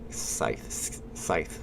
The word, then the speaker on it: Scythe: that I don't know it's pronounced like the Grim Reaper's weapon and imagine Scythe we got it we